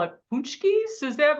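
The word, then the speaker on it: pączki: am I saying wrong pki you're saying it if you look at how it's spelled you're like wait how did they get out like that can't be right that can't be right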